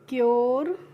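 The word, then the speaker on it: pure: इसके शोरे क्योरे पूरे लुरे लूरे इस तरीके से नहीं पढ़ना है। कैसे पढ़ना है? श्योर क्योर प्योर ल्योर ड्योर।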